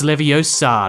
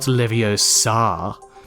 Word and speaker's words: Leviosa: In the Philosopher's Stone movie, Hermione corrects Ron's pronunciation of the levitation charm with what famous line? The line is, it's Leviosa, not Leviosa.